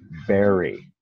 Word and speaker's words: bury: Si lees, es difícil pronunciar porque no usamos el U. Berry, ah, sí, no se usa la U.